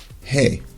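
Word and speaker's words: ה: goes only halfway up hey makes the H sound just like the English letter H and just like H it's silent at the end of a word these two horizontal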